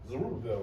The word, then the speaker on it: Zerubbabel: Zerubbabel, right?